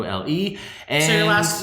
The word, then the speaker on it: Le: i n g o l e and so your last your last name is pronounced Lei yeah Le you introduced as Ringo